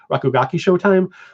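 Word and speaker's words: Rakugaki Showtime: you there's shock oh and I can never pronounce it right it's like Chicago ki rogue time show time ooh rakugaki show time which was essentially the PlayStation Smash Brothers um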